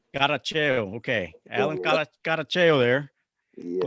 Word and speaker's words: Caracheo: Caracheo. Caracheo.